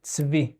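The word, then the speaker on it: צבי: at the beginning of the word, a lot of times it's an eh. In this case, it's a ts. Ts-vi.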